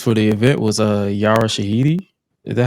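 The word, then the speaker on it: Yara Shahidi: Uh one of the one of the attendees for the event was uh Yara Shahiti.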